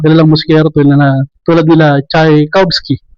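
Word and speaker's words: Tchaikovsky: musikero na tulad nila Chay Kobski nahirap bangitin Cha Kobski yan an pronounce e and alam naman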